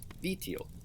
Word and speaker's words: vitio: Looking at nuvitiot, the base word is vitio, which has a high tone on the first syllable and low for the other two.